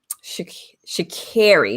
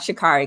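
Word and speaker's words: Sha'Carri: to talk about um shakiri not shikari because i've been pronouncing it incorrectly we want to get it correct uh so shikara we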